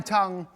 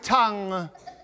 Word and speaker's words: tongue: ‘The tip of your what?’ ‘My tongue. It’s in my mouth’. ‘Oh, you mean your tong. In my day it rhymed with song’. ‘Well not anymore. Today it rhymes with sung’.